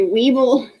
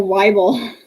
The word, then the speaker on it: Weibel: I always want to say Weeble, but she says it rhymes with Bible. So Weibel.